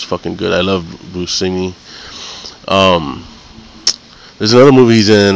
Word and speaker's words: Buscemi: See, everybody calls him Buscemi. I've seen a documentary with this guy, and he said that he pronounces it Buscemi. So I don't know if you guys know that, but if you see him, don't call him Buscemi.